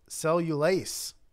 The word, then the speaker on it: cellulase: Silverfish produce something called cellulase. Cellulase, and it's spelled like cellulose. Only there's an A, or there's a A instead of an O at the end. So is it like vegetable mayonnaise, cellulase?